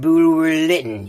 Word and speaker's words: Bulwer-Lytton: Hey, Sir Edward how do you pronounce that again? It's Sir Edward Bulwer-Lytton, you twat.